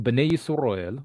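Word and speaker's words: בני ישראל: Translation and explanation of this is that the Bnei Yisrael, which is actually how you pronounce the people of Israel in Hebrew, were given the national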